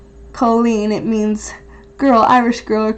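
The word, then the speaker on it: Cailín: It's pronounced Colleen.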